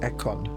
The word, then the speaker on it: Ekon: Okay, so it's pronounced Ekon, not Econ.